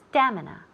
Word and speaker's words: stamina: good pronunciation so stamina stamina the the accent falls on the first syllable stamina stamina great and